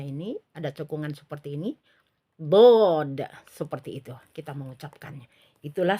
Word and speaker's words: ض: itu eh adalah eh suara di Arahkan ke atas saat pengucapan Dod seperti itu ya ketika difthah jadi Dod seperti itu ya jadi suara itu penuh ya ke bagian atas bagian atas ini sehingga memunculkan sifat ee Dod itu tebal ya jadi seperti ini